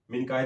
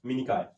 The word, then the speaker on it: मिनिकॉय: लक्षद्वीप और मिनिकॉय, मिनिकाय द्वीप, मिनिकाय द्वीप। अब स्पेलिंग में ध्यान दीजिए, मैं जो बोलता हूँ उस पर ध्यान दीजिए। मिनिकाय द्वीप, ठीक है।